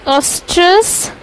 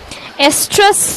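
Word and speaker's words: oestrus: ठीक, किस समय डाला जाता है, तो वो है होता है ऑस्ट्रस एस्ट्रस, अब बोलते हैं क्योंकि एस्ट्रस ओ साइलेंट होता है, ओ हट ही गया है इसमें से, एस्ट्रस पीरियड में बॉडी में इंट्रोड्यूस करा दिया जाता है सेमेन.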